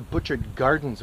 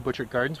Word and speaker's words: Butchart Gardens: little Inlet called butchered Inlet in fact that's the butchered gardens which is a very very famous incredible natural